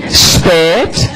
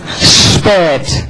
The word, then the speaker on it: spät: Whenever you have this combination, S and P, it will be pronounced like sh, spät. Spät. Always in German, always.